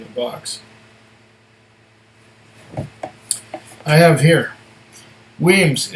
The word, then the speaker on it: Wemyss: If you feel moved to toast them, remember it's pronounced Wemyss.